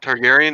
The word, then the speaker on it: Targaryen: Why would Rhaegar I don't know Targaryen. how to say it. Targaryen? Is that how you say it?